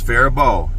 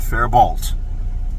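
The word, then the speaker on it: Faribault: Anyway, and the next morning I unloaded um my oranges and uh Farbo, Minnesota. And it's Farbo, not Farbolt. The L and the T are silent.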